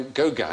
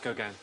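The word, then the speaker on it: Gauguin: was cut off by gogan in a fight isn't there yeah oh it's not pronounced go again he looks like he'd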